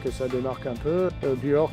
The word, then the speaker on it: Beoir: Buor qui pourrait être vu comme Bewar, prononcé souvent comme Bewar.